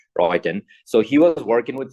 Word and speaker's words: Roentgen: There was this person called Roentgen, Rotegen. It's spelling the G is actually not pronounced, Roentgen.